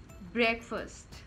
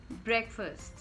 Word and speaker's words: breakfast: Just because it is having break and then fast in it, again, does not mean you have to pronounce it that way, right?